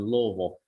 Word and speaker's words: Louisville: he was gone helping his kids down in louisville yeah that's how you say it louisville um